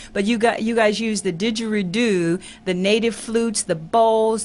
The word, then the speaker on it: didgeridoo: you guys combine chanting, and how do I pronounce the name of that instrument that you blow on? Didgeridoo.